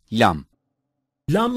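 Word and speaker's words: لام: is a weak consonant lamb-lamb is pronounced by touching the roots of the upper central teeth with the tip of the tongue LEM is a weak consonant mim-mim is pronounced by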